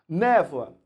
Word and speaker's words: névoa: Névoa. Por exemplo, você tem o O e o A, mas o som, na verdade, é um som de U. Porque a gente pronuncia névoa.